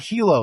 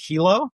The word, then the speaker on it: HiLo: I said, "Well, no, Hilo." It's like, "Oh, so it's not Hilo like the city in Hawaii.